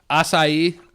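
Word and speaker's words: açaí: of my mouth yeah acai yeah I think we're good on that I tell you what the first time I saw that word I was like okay I said a chi - I actually sent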